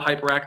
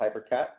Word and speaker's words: Hyperakt: Uh, and not that hyperact is much easier to pronounce because everybody calls us hypercat, but but it was